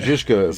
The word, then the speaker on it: Žižka: Žižka for the Yeah, perfect pronunciation. the Czech title. Žižka.